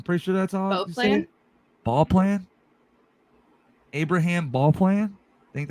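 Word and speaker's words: Beauplan: sure that's all plan ball plan Abraham ball plan I think that's how you say it's B plan because usually like Bea is bow oh perfect then B plan like French sounds better Louisana better than what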